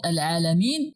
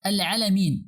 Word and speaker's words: العالمين: So normally it should be pronounced as Al-Alamin, not Al-Alamin. But Al-Alamin has no meaning in Arabic.